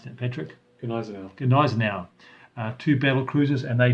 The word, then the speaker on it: Gneisenau: They were attacked by a powerful force, including the Scharnhorst and the, how do you pronounce that, Patrick? Gneisenau.